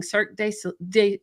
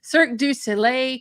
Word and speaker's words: Cirque du Soleil: in entertainment lighting managing multi-million dollar projects including cirque du sol oh i said it wrong cirque du soleil and celine dion caesar's coliseum how cool is